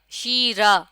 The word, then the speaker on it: شیرہ: شیرہ، شیرہ، اب یہاں تلفظ بھی انہوں نے بریکٹ میں کر کے لکھ دیا ہے، شین یہ شی، رے ہے را، شیرہ، اور شین کے نیچے زیر کی علامت ہے۔ تو ہمیں یہ بھی